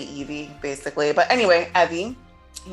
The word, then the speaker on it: Evvie: a fast alliance with ebby i completely pronounced their name wrong last time um because i was so excited to um say evie basically but anyway evie